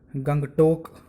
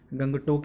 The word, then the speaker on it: गंगतोक: की राजधानी है है जिसको शायद हम सभी बचपन से गंगतोक बोलते आ रहे हैं और वही पढ़ते भी हैं हमने हर जगह हिंदी में उसका उच्चारण गंगतोक ही किया है लेकिन मैं आपको बताने वाला हूं कि इसका जो उच्चारण है वह बचपन से गलत ही करते आ रहे